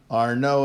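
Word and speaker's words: Arnauld: and Antoine are no are no is the way you I think usually pronounce that it's sis you know French so this is a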